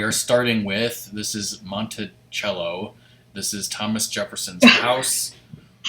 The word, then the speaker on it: Monticello: on the first floor I like to say it Monticello like it's like there's a H somewhere but there's actually not but that's just the